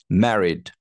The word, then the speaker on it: married: divorced divorced and then married married that that's stress is on the first syllable guys married M I'm